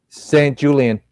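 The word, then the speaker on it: Sanjulian: St. Julian. St. Julian. That's how you say it.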